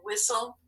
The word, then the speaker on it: whistle: here's the example castle so now you can just add whistle and hustle and go ahead and mark those up because we know that first syllable is closed and the second syllable is going to be consonant l e you can mark across off the e and cross off the t wow so that's all